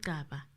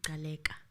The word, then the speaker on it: Gcaba: It's not Gcaba. It's Gcaba.